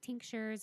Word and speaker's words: tincture: it's like puncture, but with a TI in front. Fantastic.